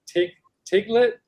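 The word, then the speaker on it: Tlingit: out to berry pick was how do you pronounce it? A tinglet. It's a kind of Native American tribe that originated in Alaska. Inuit? What's that? An Inuit? No, they're called a tinglet or tinglet.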